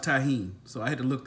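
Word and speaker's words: Tajín: look that up because I've been calling this stuffed a gene and team tae Jin whatever man you it's pronounced Tajin so I had to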